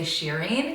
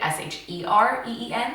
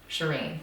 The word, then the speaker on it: Shereen: are is smiley or are brown will say sheeren cuz that's that's actually the way you're supposed to pronounce it I'm named after my grandma and